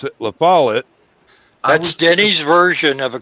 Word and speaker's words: LaFollette: and Foul Play was suspected Robert Stack kept pronouncing it Lafayette and I I just cringed I just you've never been there have you no otherwise you'd heard people that lived there pronounce it LaFollette that's Denny's version of a combination between a